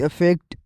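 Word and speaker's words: affect: Number पहला word है अफेक्ट to influence या इंपैक्ट जिसकी मानी है A double F ई सी टी अफेक्ट।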